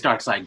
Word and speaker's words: Darkseid: How do you pronounce? Yeah, I've never. Darkseid. It is Darkseid.